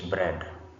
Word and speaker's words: bread: In our example number one, this word is bread. Bread, meaning that a is not pronounced.